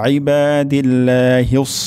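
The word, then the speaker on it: عباد: এখানে ইবাদিল্লাহিস এমন হবে না, আইবা আইন উচ্চারণ হবে ইবাদিল্লাহিস সালিহিন।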